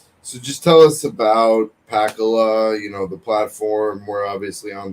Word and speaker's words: Pakaloh: And is it pronounced, because with my Boston accent, I say Pakaloh, but it's Pakaloh? Pakaloh. Yeah, from Pakalolo.